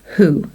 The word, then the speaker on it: who: So they all start with the W or W, except for this word, who, and there's no W there at all.